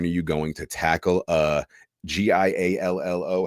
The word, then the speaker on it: giallo: When are you going to tackle Giallo? How do you pronounce that? Giallo? Giallo.